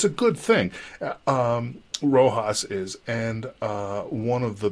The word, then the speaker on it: RoHS: reduction of hazardous substances it's pronounced Rojas as far as I can tell it's a directive that